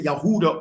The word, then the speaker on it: Judah: Like the descendants of Yehuda or Huda, which is which is the true pronunciation of Judah.